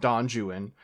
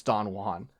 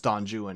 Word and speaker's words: Don Juan: And you're hearing me say that and you're like, "Well, Six, clearly it's Don Juan." Yes, but the guy who wrote it was, you know, a fool who didn't know anything about Spanish. And so, he says it's Don Jewan and that's what the